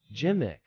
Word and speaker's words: gimmick: signifies creative tactics pronunciation pronouncing gimmick is simple jimick with a soft G and a short I use in a sentence